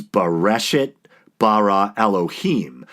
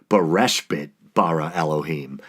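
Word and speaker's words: בראשית ברא אלהים: time I butchered it so the Hebrew for in the beginning God created is beresch it bara Elohim the first time around I accidentally said beresch bit bara Elohim so maybe that's why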